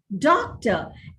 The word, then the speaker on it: doctor: example the word doctor the word doctor is stressed on the first syllable duh doctor and it is stressed on that particular syllable in all contexts right that's why it's